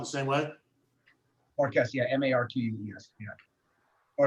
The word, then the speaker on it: Marques: I want to make sure I'm pronouncing your last name correctly, Darren. It's Marquis, right? Marques.